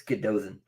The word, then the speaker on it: Godothan: I had a Welsh guy tell me I was saying it wrong, so I've corrected myself. It's Godothan.